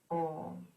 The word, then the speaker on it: Om: That sound is Om. Simple sound made of 3 syllables, A, U and Ma, connects us internally with the universe, to the divine.